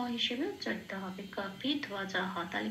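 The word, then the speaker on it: কপিধ্বজঃ: জন্য ও প্লাস অ, বয়ের উচ্চারণটা ও প্লাস অ সেই জন্য ধোয়া বলতে হবে। কাপি ধোয়া জ হ, হ কেন শেষে, পংক্তির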